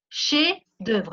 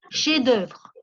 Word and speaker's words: chefs-d'œuvre: Obras maestras son chefs-d'œuvre. La F no se pronuncia, chefs-d'œuvre.